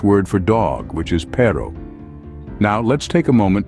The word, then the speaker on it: perro: where things get interesting the r in Spanish is rolled giving it a unique sound if you're new to Rolling your RS don't worry it's like the sound you make when you're imitating a motor or a purring cat try it out Ro